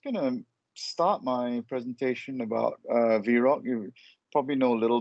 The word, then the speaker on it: VROC: Now, I think the first question people want to know is how do you pronounce VROC? It's actually VROC, not VROC or VROC.